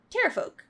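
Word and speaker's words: Pterafolk: Terapolk. Oh boy. The name of this episode. The P is silent.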